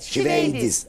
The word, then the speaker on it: şiveydiz: Evet, çok şiveydiz meşhurdur. Değil mi tam okunuşu? Evet, şiveydiz. Evet, aynen, tamam.